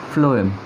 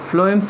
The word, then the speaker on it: phloem: water and minerals and phloem carries food how to remember this one flow the pronunciation is F word so F sound is coming so it is food